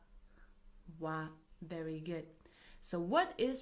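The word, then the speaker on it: は: So as you can see we write it as hiragana but we pronounce it as a particle as wa.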